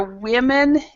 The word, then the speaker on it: women: Remember, women and woman. Women is plural, so it's more than one. Okay, and then woman is one. When there's one woman, several women. Women, woman.